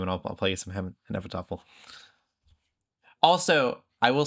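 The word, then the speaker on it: Hnefatafl: There's You said it right. Did I? Oh, go me. Hennefettafel. Saying it just like Ragnar Lothbrok did.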